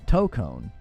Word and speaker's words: Tokon: Tone like toe on your foot and a cone. Toe cone.